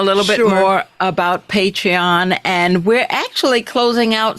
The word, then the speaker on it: Patreon: So go on over to Patreon. Spell it, Ange. Become a subscriber. Pardon? Spell it. Patreon. Okay, thank you. Okay, I was like, Patron? No, Patreon. Patreon. Patreon. She said Patron.